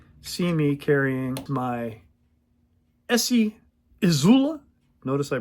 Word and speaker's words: IZULA: not, you would see me carrying my ESEE IZULA, notice I pronounced that correctly, in S35VN with my super special modded Rowan-made HEST knife scales.